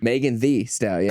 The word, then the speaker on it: Megan Thee Stallion: Megan Thee Stallion.